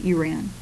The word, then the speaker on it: Iran: A few years down the line, in 1935, he changed the name of Persia to what is now known as Iran, or sometimes pronounced Iran.